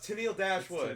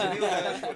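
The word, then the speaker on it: Tenille Dashwood: Oh, it's Tennille Dashwood. Yeah, it's Tennille Dashwood.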